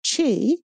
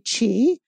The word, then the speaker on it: Qi: they call this energy Chi it's pronounced Chi but it's spelled Qi this is our life